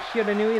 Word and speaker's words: Shiranui: we go shiranui and yes you pronounced the E the or the I the e sound at the end of shiranui there are no silent letters in Japanese right hand color and